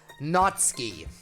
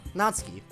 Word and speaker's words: Natsuki: this time maybe like then not part is easy then you do the s and instead of heading right for the k sound just release it for a fraction of a second like you're going to use the Su sound but then do the K not ski hopefully that makes sense